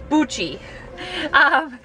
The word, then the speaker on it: Bucci: It's like Gucci, but it's, so it's Bucci.